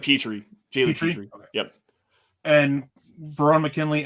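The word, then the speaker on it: Pitre: Lewis Sine, Jalen Pitter. I'm not sure how to say the last name. It's Jalen Petrie.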